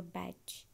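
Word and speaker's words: Bach: Peter okay do you know patch flowers remedy the same doctor batch but it pronounced as a back discovered a distinct class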